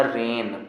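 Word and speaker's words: reign: रहा है तो जी कॉमन पढ़ना केवल पढ़ना रेन जी का उच्चारण मत करना एक और लिखा है क्या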